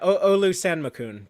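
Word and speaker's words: Olusanmokun: Alosan Makan? Is that how you say it? Yeah, Olu Sanmakun, but close enough.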